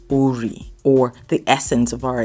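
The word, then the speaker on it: Orí: How do you pronounce it? Ori.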